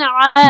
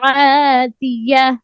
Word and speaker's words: عاتية: عاد فأهلكوا بريح صرصر عاتية صرصر آواز بند ہو جائے صرصر عاتیہ صرصر عاتية نہیں صرصرین نہیں ہے صرصر عاتیہ قلقلہ نہیں کرنا صرصر عاتية عین کو قریب کرو عاتیہ عاتية جتنا یاد کرو تلفظ صحیح